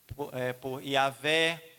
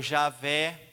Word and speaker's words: Javé: Essas 4 letrinhas que há quem pronuncia Ruá, depois a gente traduziu por Yavé ou Javé, né? Esse que a gente fala Yavé, Javé, né?